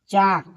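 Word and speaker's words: chalk: Silent है। चाक यानी एल क्या है?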